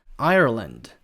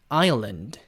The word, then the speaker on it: Ireland: 일단 이 아일랜드를 미국식으로 발음을 하면요. 이렇게 됩니다. Ireland. 이런 식으로 미국 사람들은 아일랜드라는 나라를 Ireland 이런 식으로 발음을 해요. 미국식은. 근데 영국식은 다행히게도 혀꼬는 그런 게 없으니까 영국식은 Ireland. 우리가 섬이라고 알고 있는 아일랜드는 Island. 이렇게 하는 거고요.